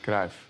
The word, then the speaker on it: Cruyff: It's pronounced Cruyff.